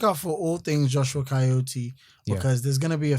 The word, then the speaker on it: Kyeot: Looking forward to the evolution of Joshua KYEOT, and I've finally pronounced it correctly, guys.